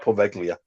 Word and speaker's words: Poveglia: Oh, the Well, T is silent. I like Poveglia.